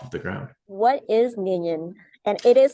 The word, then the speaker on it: Nillion: computation Network off of the ground what is minion and it is spelled n i l l i o n